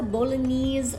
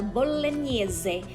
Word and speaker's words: Bolognese: for its sauce a lot of americans would pronounce it as the bolognese sauce it's actually known as ragu a la bolleneze bolognese sauce or simply ragu in italian and